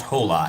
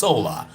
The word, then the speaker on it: hola: You know, in Spanish when you say hola, there is an H, but you don't pronounce it. It's hola.